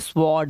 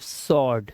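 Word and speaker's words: sword: इसे क्या पढ़ते हैं बच्चे इसको पढ़ते हैं स्वर्ड ये स्वर्ड नहीं डब्लू साइलेंट सिर्फ सर्ड सर्ड मतलब तलवार ऐसे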